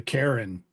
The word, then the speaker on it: cairn: Why do they call it a cairn? It's a cairn. That's only one syllable.